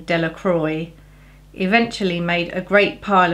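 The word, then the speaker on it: Delacroix: Jones and Dicky dear the villagers pronounced this name Delroy eventually made a great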